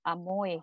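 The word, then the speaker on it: Amoy: a m o y amoe here is the uh the hawking um pronunciation of salmon so uh the the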